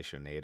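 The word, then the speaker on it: Sinéad: one told me that you pronounce the d I've been calling her Sinead O'Connor like my whole ass life and you're supposed to say Sinead O'Connor I feel like a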